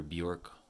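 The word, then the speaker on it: Björk: um i think actually supposed to be pronounced bjerk if you're speaking in the icelandic lingo but i've called her bjork all my life and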